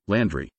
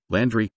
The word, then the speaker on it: Londonderry: Otherwise, the usual pronunciation now is Landry, with primary stress on the first syllable and secondary stress on the third syllable.